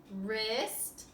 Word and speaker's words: wrist: The first ones have silent W's. You need to match the word to the picture. We have a wren, wrist, and wreath.